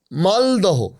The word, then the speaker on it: মালদহ: যেমন ধরুন এই যে শিয়ালদহ আমরা বলি শিয়ালদা খরদহ। খরদা মালদহ মালদা হোডিং মানে শিয়ালদা মালদাহ